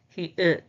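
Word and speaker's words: 히읗: The pronunciation is ha, ha, ha. The name is he-ut, he-ut, he-ut, he-ut, he-ut.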